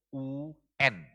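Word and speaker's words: οὖν: tuh dalam teks Yunaninya yaitu kata un o U n bacanya un yang kalau diterjemahkan kalau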